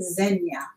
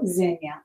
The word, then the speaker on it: Xenia: better than you don't Xenia that many of you go zhenya and everybody love knows that